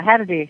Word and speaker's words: Hadady: Our guest tonight, I'm so excited, second half, Hadady is here with us. Hiya, Todd, and hiya, Night Owl. Yes, did I say it right? Did I say it right? Yeah, Hadady. Yeah, sure.